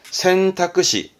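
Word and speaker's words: 選択肢: 뭐다 사지의 지자다 사지의지 그래서 대표 단어가 선택지 발음은 센타쿠시 센타끄시 꼭 잊지마요 센타쿠신 그다음 손수변이 붙은 것은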